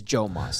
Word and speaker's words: Joe Moss: Yeah, it is Joe Moss. That's the proper pronunciation. I want to get it right because I didn't know if it was a soft J, but it's Joe Moss.